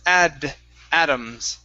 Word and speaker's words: Adams: okay right here samuel adams uh similar yeah push your tongue forward with the d instead of adam adams it's add atoms uh samuel adams there